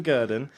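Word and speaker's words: Gurdon: in 1958 John gurden spelled like Gordon but with a u instead of no right so John gerden was the first to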